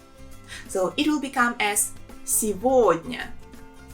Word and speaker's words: сегодня: And here the main thing is that the letter G, we pronounce it as V. So it will become as сегодня.